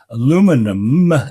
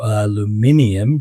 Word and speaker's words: aluminium: But right now, aluminum exports are banned, but the precursor to aluminum, which is alumina, or I say the precursor to aluminium, to use the British, Irish, generally European pronunciation, it shows that people